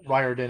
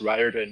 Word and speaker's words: Riordan: So I was going to send it to you in email, and tell you it's pronounced Riordan, not Riordan, but Thomas Germain helped me to realize that that's not the best idea.